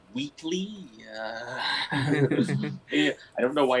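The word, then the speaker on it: Whateley: It was pronounced Wheatley.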